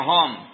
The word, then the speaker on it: Home: Homero, Home. ¿Ya? Bueno, pero su apellido escocés es Hume. Pero la gente le decía Home y lo terminaron escribiendo como se pronuncia.